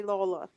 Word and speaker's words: Lawler: to meet you lawler yeah vivian you can pronounce that lawler because that's how we do it oh yeah yeah